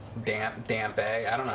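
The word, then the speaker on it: Dampé: Well, if the E is silent, then that would be right, wouldn't it? That's all I want you to do. Thought you had to get around his backside. You pronounce it like a moist cunt. It's pronounced dump.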